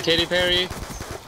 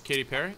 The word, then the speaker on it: Katy Perry: Is he married to Katy Perry? No. No, it rhymes with Cherry.